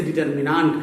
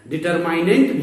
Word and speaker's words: determinant: सारणिक जिसे डिटर्मिनांट कहते हैं, डिटरमाइनेंट भी कहा जाता है। उच्चारण दोनों तरीके से किया जाता है।